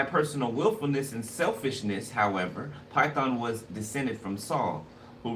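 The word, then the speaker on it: Pithon: So Python. It said Python, but it's spelled P-I-T-H-O-N.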